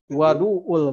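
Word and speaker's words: وضوء: As-so'id at-toyib wadu'ul muslim. Nah, wadu'ul muslim. Jadi kembali ini dibacanya bukan wudu tapi wadu, ya.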